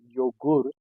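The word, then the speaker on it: Joghurt: So in German we call it yogurt, but it starts with J.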